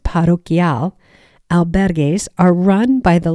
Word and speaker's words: parroquial: Next, parish or parroquial, which is pronounced parroquial, albergues are run by the local church or diocese.